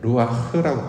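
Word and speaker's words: רוח: 요렇게 이제 지금까지는 해석을 해 왔는데이 바람이라고 번역된 단어의 원어를 보면 이제 루아흐라고 발음을 하는데요.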